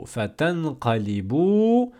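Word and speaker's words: فَتَنقَلِبُوا: Ensuite, fatanqalibu. Pareil, à la fin on a un alif orthographique, signe du pluriel, on ne le prononce pas.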